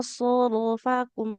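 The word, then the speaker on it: صرفكم: ya Summa sorofakum. Ada so dengan huruf ro yang tebal.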